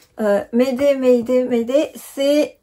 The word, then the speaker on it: Mayday: Et une petite astuce pour Mayday, pour bien le prononcer, Mayday, Mayday, Mayday, c'est tu penses au mot aider, tu appelles à l'aide, donc tu as besoin d'aide, c'est Mayday comme une aide.